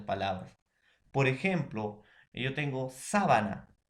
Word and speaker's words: sábana: En cambio, sábana, ¿no? Tiene una intensidad en su pronunciación en la antepenúltima sílaba.